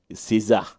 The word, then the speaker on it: SZA: SZA. If you say RZA like RZA, I think then you say SZA as SZA.